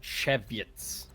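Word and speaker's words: Żywiec: There's a there's a Polish beer that's spelled Z Y W I E C and it's and it's pronounced and it's pronounced cheviet.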